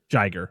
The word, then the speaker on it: Jiger: So, yeah, this is when the second kaiju is it how do you pronounce this one? Jiger.